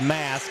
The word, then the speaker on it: Maske: And that's Mask is how you say that one, Mask. they tell me. Looks like Maskey to me, too.